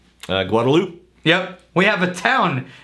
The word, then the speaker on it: Guadalupe: about things we have streets and rivers like Guadalupe which be pronounced Guadalupe yeah we have a town and a road